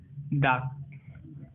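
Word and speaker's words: 닭: यहाँ पर देखो ल और क है, ल और क, इसमें से क साउंड प्रोनाउंसिएट करेगा, लेकिन अब ल साउंड प्रोनाउंसिएट नहीं करेगा। तो एग्जाम्पल के तौर पर देखो दाक, दाक, दाक, जिससे हम बोलेंगे चिकन, ठीक है।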